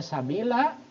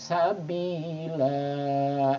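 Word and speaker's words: سبيلا: normal Sabila Nah kenapa dibaca Sabila karena ini berada di akhir kata nah atau harus berhenti berhenti itu dalam istilah Arab disebut waqaf nah waqaf itu berhenti nah Nah harus berhenti dibaca diwakafkan maka dibacanya jadi Sabila nah secara hukum tajwid hukum ini dikenal dengan mad iwad agak panjang ya dibaca panjang Sabila seperti itu kira-kira 2 harokat dalam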